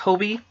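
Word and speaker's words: Hobbii: really like hobie now that i know it's pronounced hobie um they again that you just saw my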